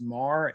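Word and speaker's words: Maher: animals but um uh my name is pronounced mar m-a-h-e-r and um let's see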